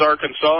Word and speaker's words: Arkansas: got kansas city kansas they're spelled the same but one is arkansas and one is kansas i don't know where